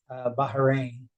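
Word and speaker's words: Bahrain: but so I'll be going to baharin and I say it like that because I've been corrected like that by service people and one of the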